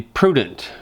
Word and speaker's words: prudent: And the Bible encourages one to be prudent. Prudent rhymes with student.